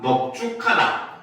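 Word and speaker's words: 넓죽하다: 자, 반면에 너는 바로 다음과 같은 경우 두 경우에만 넙으로 발음을 하는데 그건 바로 뭐다? 넙둥글다, 넙죽하다, 넓적하다도 똑같아요. 알겠죠? 알겠습니까? 그래서 요 경우에만 넙으로 발음해요.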